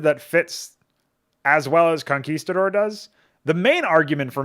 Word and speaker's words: conquistador: I'm not really a fan of it because it's 4 syllables, right? Conquistador. I guess you might even get some turbo virgins that will pronounce it conquistadore or something.